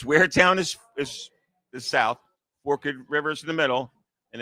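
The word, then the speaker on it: Forked River: It's Forkid River. It looks like your viewers are going to think it says Fork River.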